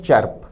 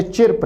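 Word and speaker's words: chirp: पहला ऑप्शन है चर्प। उच्चारण पर ध्यान दें, प्रोनाउंसिएशन को नोट करें। शब्द चिर्प नहीं है, चर्प है जिसका अर्थ है चहचहाना।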